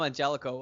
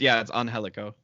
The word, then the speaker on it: Angelico: It's the same with Angelico as well, because I call him Angelico, and you're like, it's not Angelico. It's Angelico. Yes, but to me, it's whenever he's on my roster.